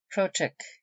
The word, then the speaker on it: crossjack: Egypt under Lord Keith cochic the mode of pronouncing crossjack which C Kron in the